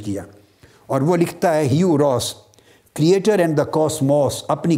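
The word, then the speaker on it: Hugh Ross: اس کا نام ہے have راس۔ Have راس، have کے سپیلنگ ہے HUGH، مگر پڑھنے میں ہیو ہے، ہیو راس۔ یہ یونیورسٹی آف ٹورانٹو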